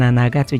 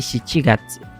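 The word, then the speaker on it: 七月: Jadi bacanya si gat bulan Juli. Jangan nanagatsu jangan. Tapi si gatsu gitu.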